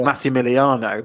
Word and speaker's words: Massimiliano: Now, the problem with Maximiliano is that in the Italian alphabet, there's no X. So you would pronounce it Maximiliano, but it's spelled Massi. So it's double S.